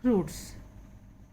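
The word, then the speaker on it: fruit: It eats फ्रूट्स, यह फल खाता है। फ्रूट, यहाँ पे यू का साउंड आ रहा है, आई साइलेंट।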